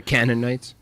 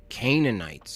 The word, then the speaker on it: Canaanites: causing damage the canonites but you're doing it for it's not how you say it bro it's canaanites money you kind